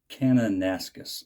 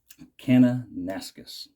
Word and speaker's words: Kananaskis: And I'll say it right this time. Kananaskis. I pronounced it wrong in my video, and I knew better, but I'm a space case. Kananaskis.